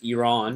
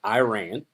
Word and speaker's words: Iran: If y'all don't know, the correct pronunciation of that is Iran, not Iran.